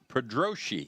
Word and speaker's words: Pedrosi: tuned in still it's pedrosi is his how you pronounce it pedroshi pedroshi yes all right so third